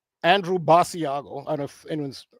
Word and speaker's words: Basiago: Now, Basiago was a child at the time, according to his Basiago is how you pronounce it.